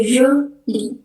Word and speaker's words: jolie: Terus yang kedua ada jolie, itu bacanya jolie.